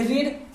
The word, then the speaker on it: read: I have verb में पढ़ चुका हूं, पढ़ना, यानी कि रीड, और रीड का थर्ड फॉर्म होगा रेड। ठीक है, स्पेलिंग वही रहेगा, रीड, रेड, READ। तो आई हैव रेड, बोलेंगे रेड लेकिन लिखेंगे रीड।